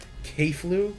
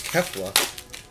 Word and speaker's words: Kefla: Keflu? Keflu? Keflua. Keflu. I think it's Kefla.